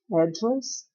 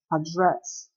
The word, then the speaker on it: address: A melhor opção aqui, what's your address or address, nós temos duas pronúncias, né, para endereço. Address, address. Então, britânico e americano.